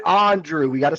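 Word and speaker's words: Andruw: Andrew is the same thing. No, it's not. He pronounces it Andrew.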